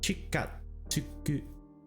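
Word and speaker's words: 近づく: It's more tsu. Always forget about tsu. I've never seen this outside of very specific Rendaku instances, and it always catches me by surprise. Chikatsuku.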